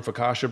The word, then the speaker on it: focaccia: there custom yes we walked into is it focaccia bread am I saying it right Focaccia yeah